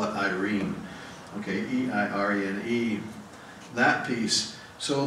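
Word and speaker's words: eirene: It's spelled E-I-R-E-N-E, and it looks like it sounds like Irene.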